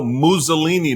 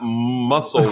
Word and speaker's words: Mussolini: So you know Mussolini, not muscle, whatever you were trying to say.